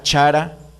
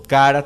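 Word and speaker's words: χαρά: escritura es una palabra griega que se se pronuncia chara o cara también sí es una palabra que se refiere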